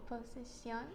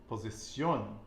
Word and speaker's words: posición: Posición. Posición. Excelente. And the stress is on the final syllable because we have Accent.